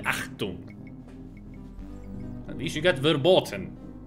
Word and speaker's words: Achtung: It's not A-C-T, it is A-C-H-T. Because you do pronounce it Achtung.